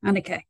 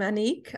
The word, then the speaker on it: Anique: Okay, Annika. Annika, is that the right name? The right pronunciation? You tell us. Annik. Hello, I'm Anique.